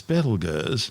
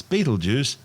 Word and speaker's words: Betelgeuse: Currently known as Betelgeuse, and commonly referred to by the public as Betelgeuse, don't say it 3 times, the names are both tortured mispronunciations of the original Arabic name Ibtal Yauza, meaning the hand of the big man being Orion the Hunter.